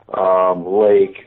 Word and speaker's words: Laake: And I liked, the last pronunciation, Lake, which is my real last name, ironically admitting that. It's Nordic roots, it's Germanic roots, it's a lot of things. So it's, with the double A's in it, it brings out like